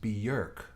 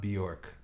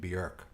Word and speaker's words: Björk: And somebody was telling me Tuckman Marsh, I just learned it's pronounced Björk, not Bjork, which is, it's an O in there, right? But I guess the Icelandic pronunciation, Björk.